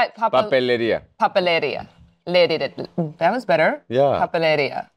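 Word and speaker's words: papelería: Papeleria.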